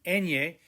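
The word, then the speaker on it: eñe: third line listen first kind of like a ny and canyon en ye and o again listen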